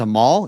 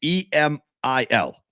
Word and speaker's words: Emil: You think it's Emal? It's E-M-I-L. Oh, I wrote E-M-A-L. No, it's Emil.